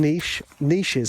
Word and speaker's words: niches: saying American is because we call them niches over here. So this saying doesn't work if you're pronouncing it like an English person.